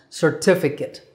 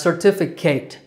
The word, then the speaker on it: certificate: Number 9 is another type of document, certificate. I sometimes hear students mispronounce this word as certificate, but your name doesn't have to be Kate for you to get a certificate.